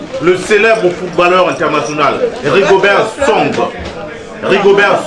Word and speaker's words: Song: Ils disent song, nous on dit son, mais c'est la même chose, c'est le poulet.